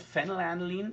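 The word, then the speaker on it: phenylalanine: with a P but because the pronunciation of fennel Anolene is an F pronunciation.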